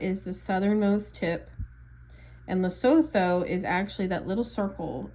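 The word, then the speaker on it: Lesotho: So, South Africa is the southernmost tip and loto is actually that little circle inside South Africa. It's actually pronounced Loto.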